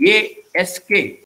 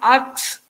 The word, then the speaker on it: ask: A-S-K, correct? But yes. In Goa, English teachers, forget about other teachers, they pronounce like this. Instead of saying ask, they say ax.